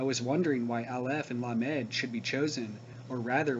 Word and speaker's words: Lamed: It is strange also how Lamed is pronounced La-Med, this showing the duality as soon as it is taken into consideration as a separate letter.